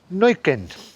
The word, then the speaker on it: Neuquén: So, this is the new place I’m in… and it’s Neuquén. I have practised it — that is how you say it, I’ve been told.